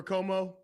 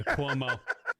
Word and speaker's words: Cuomo: Like, could you imagine like Jim Jones and them up in Harlem doing something for Como? Right. Never. Yeah, Cuomo. The only thing that rhymes with Cuomo is homo.